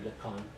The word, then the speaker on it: Lecon: Wheatley Fellow here, Henry Lecon, who's on his Rhymes with bacon, as he told me.